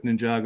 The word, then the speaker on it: Ninjago: I'm like, "What is this Ninja Go?" And he's like, "It's Ninjago." Ninjago.